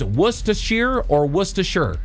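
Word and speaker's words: Worcestershire: So they have two different sayings. It's worsh. Oh, so no R.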